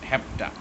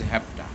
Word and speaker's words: have to: this is obligation note have to is often pronounced hepta have to in american use it is used as the pronunciation is hepta look at this another